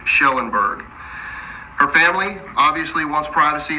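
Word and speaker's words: Kjellenberg: known as Suzanne Schellenberg it's spelled KJ but it is pronounced sh Schellenberg her family obviously wants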